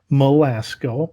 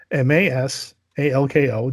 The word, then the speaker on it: Masalko: yeah, I hope like, and it's again Malasco, or no, I'm sorry, Masalko. That's how you say it. Masalko.